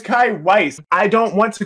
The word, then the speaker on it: Kai Weiss: Why does nobody pronounce my name correctly? It's Kai Weiss.